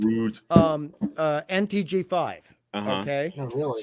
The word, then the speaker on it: Rode: pronounced Rode, Rude.